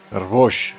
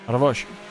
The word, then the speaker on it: Arboix: Arboix, ¿no? ¿Se pronuncia? Arboix. Arboix.